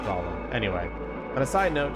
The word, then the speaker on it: Golem: To his surprise, this ends up being pronounced like Golem.